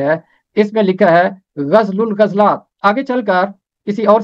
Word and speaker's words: غزل الغزلات: نام ہے غزل الغزلات۔ غزل الغزلات عربی زبان کا مرکب لفظ ہے، اس کا تلفظ ہے غزل الغزلات، غزل الغزلات، غزلات کی غزل، سانگ